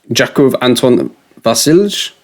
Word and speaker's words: Jakov Anton Vasilj: Interesting little one here is Jakov Anton Vasilj. That's how you pronounce it.